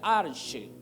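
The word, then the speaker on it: ἀρχή: aquí la palabra principio es una palabra en el griego que se pronuncia arche dice que en el principio cuando no había nada el arche cuando nada existía era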